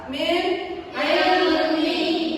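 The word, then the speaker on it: مِنْ عِلْمٍ: Poin gini min ilmi min ilmi jangan dibaca min jangan berdingung harus jelas min ilmi.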